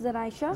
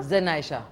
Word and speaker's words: Zaynaisha: जनाइशा के नाम से ही है। स्पेलिंग बताएं। ZAYNAISHA, इट्स जनाइशा। जनाइशा।